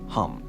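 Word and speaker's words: हं: For the throat chakra, the baja seed mantra is ham, pronounced hum.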